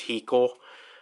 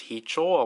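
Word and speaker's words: Heechul: Like, Hicho was Hiko. And then, like, years later, my sister was like, oh yeah, did you know that his name is actually pronounced as Hicho?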